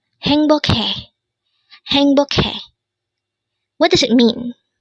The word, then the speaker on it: 행복해: HAENGBOKHAE. Again, it's HAENGBOKHAE. This is pronounced as a three-syllable word. The first syllable is hang, second syllable is bok, and third syllable is he.